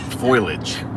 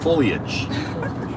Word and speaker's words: foliage: don't say that word I would have called it foilage but apparently it's not foilage it's foliage foliage and uh and so